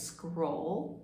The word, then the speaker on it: scroll: It sounds a little bit like the word squirrel, but instead it's scroll with an O, and that's spelled S-C-R-O-L-L.